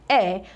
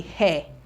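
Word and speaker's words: heir: W so we have the air this is pronounced as the air and not the hairir okay the air the air to the throne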